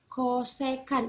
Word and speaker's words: kosekan: Kosekan, ingat bacanya itu kalau CSC itu kosekan, ya. Kalau SEC itu sekan. Kalau COT itu kotangen, ya.